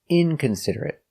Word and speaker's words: inconsiderate: 5 syllables. Inconsiderate. Stress on the first syllable and third syllable.